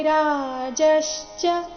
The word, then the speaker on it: ರಾಜಶ್ಚ: ರಾಜಶ್ಚ ವೀರ್ಯವಾನ್ ಕಾಶಿ ರಾಜಶ್ಚ ರಾಜಶ್ಚ ಇಲ್ಲಿ ಜ ಮೇಲೆ ಆಘಾತ ಬರಬೇಕು ಕಾಶಿ ರಾಜಶ್ಚ ವೀರ್ಯವಾನ್ ವೀರ್ಯವಾನ್ ಕೊನೆಗೆ ಅರ್ಧ